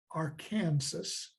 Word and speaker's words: Arkansas: to the cancer tribe the French language often drops the final letter in speaking hence the name Arkansas